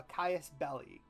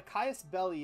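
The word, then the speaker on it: casus belli: The way that war works is that typically you have to have a Caius Belli. And I believe that's how you pronounce it. What a Caius Belli is it's a reason to go to war.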